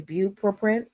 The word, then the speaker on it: bupropion: The pronunciation of the generic for Wellbutrin is bupropion.